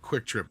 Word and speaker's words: Kwik Trip: We have a convenience store called Quick Trip here. It's spelled KWIK Trip.